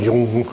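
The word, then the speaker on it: Jung: Freud and car Yung and Yung you see how you get Yung that's the expert pronunciation and they could talk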